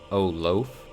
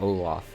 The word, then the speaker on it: Olaf: that words are dumb i would always pronounce the antagonists from a series of unfortunate events as count olaf instead of wait oh loaf oh loaf oh oh loaf in syria instead of olaf and it drove my